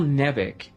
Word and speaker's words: Nevik: So I was like, let's swap the E and the I, and oh hey, now it's pronounced Nevik.